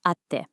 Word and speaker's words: atte: For any of these verbs, you're gonna drop that last syllable and replace it with a little tsu and a te, which sounds like a hard stop. Te. So au, to meet, becomes atte, and matsu, to wait, becomes matte.